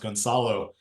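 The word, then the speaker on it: Gonçalo: here so my name my last name is actually pronounced gonsalo um because it's supposed to have the circumplex under the sea but I dropped it so I get all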